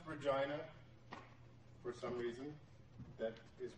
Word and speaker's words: Regina: It's pronounced Regina for some reason.